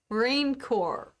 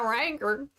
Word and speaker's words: rancor: raincore yeah i think i think if you were if you were to read it if you were a spelling bee you would say rancor you're saying it like you're a cowboy hey you wanker don't